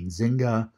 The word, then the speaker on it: Nzinga: This is, I don't have a pronunciation guide for her name, N-Z-I-N-G-H-A, Nzinga Prescott.